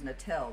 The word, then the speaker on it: Nettel: You know, it's interesting because I thought her name was Nettel. That's how they pronounce it in Spanish, but I see we call her Nettle in English.